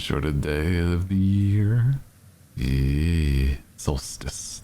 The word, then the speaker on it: solstice: each is about average soless the longest and shorted day of the year Solstice that's the right way for pronouncing pronouncing it sorry I